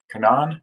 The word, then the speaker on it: Canaan: market now these are kanan firms so it's pronounced kanan which is a valley in west virginia where